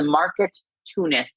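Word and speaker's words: Marketoonist: way, this is the market tunist. It is market and and which is spelled market and then o n i t.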